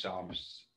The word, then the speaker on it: Som: But my name is Psalm. It could be spelled like P-S-A-L-M. Psalm. Psalm. Mm-hmm. But my spell, S-O-M. S-O-M.